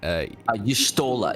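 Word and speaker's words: Y'shtola: Yustola. It's Yustola. If you just think of Stola and add a y to the beginning, Yustola.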